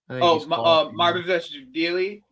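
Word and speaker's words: Mamardashvili: Marmardashvili.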